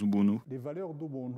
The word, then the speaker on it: Ubuntu: Na nossa língua, o Kirundi, o T, nós não pronunciamos, diremos Ubuntu.